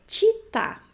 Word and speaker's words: città: A terceira palavra é città. Città, cidade, né? Città. Cuidem para não pronunciar città. Città é muito comum de pronunciar, mas o certo é città. Città. CI tem a pronúncia de ti, ok?